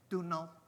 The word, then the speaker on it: Domhnaill: Domhnaill.